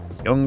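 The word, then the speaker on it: Jung: Young believed, by the way, that's how it's pronounced.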